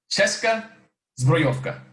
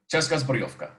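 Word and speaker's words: Česká zbrojovka: CZ, Cheska Zbrojovka, Cheska Zbrojovka, Cheska Zbrojovka. And that's how you pronounce CZ, but I can see why they call it CZ.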